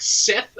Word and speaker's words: Set: know the word of set into the the world and it's basically set is like Seth as well as another pronunciation uh and in the